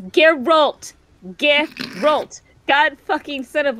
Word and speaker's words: Geralt: It's Geralt. Geralt. God fucking son of a bitch-ass mother trucker. Stop it! I love pronouncing names wrong to annoy you.